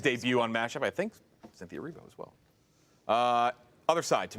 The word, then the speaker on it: Cynthia Erivo: Cynthia Erivo. Is that how you pronounce her name?